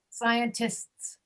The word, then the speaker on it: scientists: Scientists. It's like masks. Tists. Scientists. Masks.